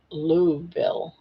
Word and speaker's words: Louisville: More like Louville. Yeah, that's how I've always heard it. Louville. So, sounds like what the English call the bathroom.